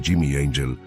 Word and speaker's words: Angel: un piloto estadounidense llamado Jimmy Angel surcaba los cielos del sur de Venezuela. Jimmy no buscaba ángeles ni santos, y su apellido se pronunciaba en inglés, no en español, buscaba oro.